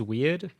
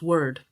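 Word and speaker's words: Weard: is a film by Louise weird actually it's pronounced word word ah okay okay so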